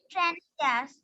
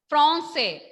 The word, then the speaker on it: Français: Français. Français. When A and N come together, when A and N come together, the pronunciation will be on. Français.